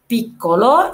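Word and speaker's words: piccolo: يعني لو الثانيه هتتنطق كا اوكي، زي في كلمة بيكولو يبقى الأولى تتبعها، فهتكون بيكولو.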